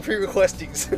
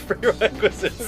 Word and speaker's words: prerequisites: Why do you keep saying pre-requesties? I don't know. It's prerequisites.